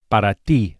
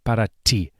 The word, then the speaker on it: para ti: in the last lesson, the Spanish T is also softer than in English and produced with a flat tongue against the gum ridge against the top of the mouth. Para ti, avoid saying para ti, but para ti.